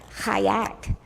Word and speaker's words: Chiat: And the name is actually pronounced Chayat.